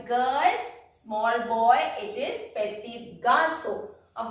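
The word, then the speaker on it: petits garçons: Petit garçon. We pronounce it as the same as we won't pronounce the last S until and unless it is followed by a vowel.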